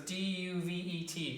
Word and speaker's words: duvet: Okay, so duvet. Okay, so it's almost like the T is silent. Okay, so it's D-U-V-E-T.